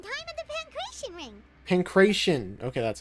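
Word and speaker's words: Pankration: Pancreation. Okay, that's how you say it. Pancreation.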